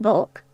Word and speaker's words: balk: Balk, pronounced bulk.